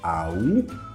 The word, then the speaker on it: au: On écrit AU, mais tu prononces O.